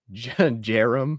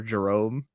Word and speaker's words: Jarom: Or maybe quite possibly Jerome or Jerome, but it's spelled Jarom.